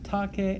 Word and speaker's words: tace: Going on, Dominus, the master, says, tace et audi, be quiet and listen. Again, notice that the imperative forms tace and audi both end in a vowel, a long e for tace and a long I for audi.